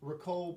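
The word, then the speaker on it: Ricou: the guy underwater is ricoh browning rico yeah but it's spelled r-i-c-o-u which i've never seen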